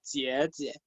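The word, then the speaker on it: 姐姐: Así se pronuncia la J, jie.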